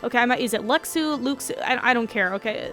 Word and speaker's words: Luxu: Everyone called him Luxu, and it's actually Lushu because, you know, X's and crap and all that jazz, and no one knew how to pronounce it until back cover, so ha ha ha ha. It's Luxu. I don't care what anyone says. Lushu just, no. It's an X sound.